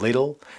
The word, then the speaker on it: little: little بیشتر آمریکایی‌ها میگن و بریتیش‌ها بیشتر میگن little. این دو تا تی وقتی به هم میرسه توی تلفظ آمریکایی معمولاً صدای د میده. little. ولی بریتیش ها میگن little.